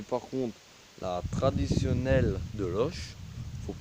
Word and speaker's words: Loches: on prononce le S ah quand on écrit loche on met le S mais on l'entend pas mais par contre la traditionnelle de l'oche faut prononcer le S